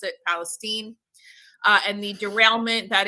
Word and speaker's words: Palestine: happened in um I keep wanting to say East Palestine Ohio even though it is spelled Palestine um they pronounce it Palestine uh and the derailment that is and the